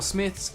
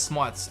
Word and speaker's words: Smiths: And I pronounced it as Smites originally. And you guys like it's pronounced Smith.